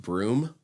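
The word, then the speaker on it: Bruttenholm: If you've only ever read it, you probably wouldn't realize that the professor's last name is pronounced broom, even though it's B r u t e n h o l m.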